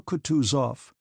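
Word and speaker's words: Kutuzov: said Anna pavlovna General katusov said bokonsky speaking French and stressing the last syllable of the general's name like a Frenchman has been pleased to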